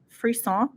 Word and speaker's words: frisson: Frisson. I'm pronouncing that correctly because we practiced.